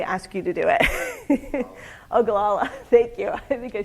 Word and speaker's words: Ogallala: Somebody had asked a very wise question, and I can never pronounce the name of this aquifer, so I may ask you to do it. Ogallala, thank you.